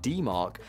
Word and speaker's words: DMARC: It’s what happens when your email authentication: SPF, DKIM, or DMARC <Pronounced as D Mark>, goes out of sync with your sending practices, often due to unnoticed DNS changes or new streams.